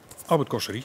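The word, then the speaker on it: Albert Cossery: Als het een Fransman is, hoe spreek je het uit? Albert Cosserie.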